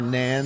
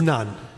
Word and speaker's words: naan: By the way, what is the correct pronunciation of the bread there? Is it naan or nan? Yes, it is naan.